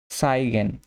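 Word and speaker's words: zeigen: সাইগেন, সাইগেন এটা আমরা হচ্ছে যে ছয়ের মতো উচ্চারণ করব, ছাতার ছ মানে টু শো দেখা।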